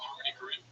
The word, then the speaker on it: Harmony Korine: Oh, Harmony Korine.